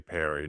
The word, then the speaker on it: Perry: Let's talk about someone who rhymes with him, and it's R.J. Perry, not Terry, but Perry, offensive lineman out of South Florida.